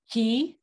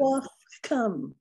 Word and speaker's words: Kewaskum: Kewaskum. That's how I pronounce it. Kewaskum. Kewaskum, yeah.